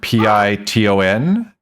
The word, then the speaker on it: piton: that word Piton, that is a French word.